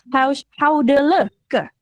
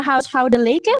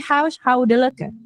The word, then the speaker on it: huishoudelijke: Nah, ini bacanya adalah huishoudelijke. Bukan huishoudelijke, bukan. Tapi huishoudelijke. Gitu.